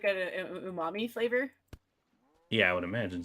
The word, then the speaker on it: umami: Yeah, I'm not gonna pretend like I pronounce Japanese great either. I try to though. I mean, try. umami is correct, so there you go.